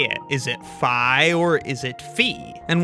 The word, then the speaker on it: phi: recent research suggests that most people agree that pronunciation is with an i right it's Fi not fee but there's certainly still